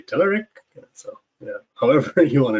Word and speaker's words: Telerik: right or wrong uh we love saying uh telerik a lot of folks say telerik so yeah however you want to do it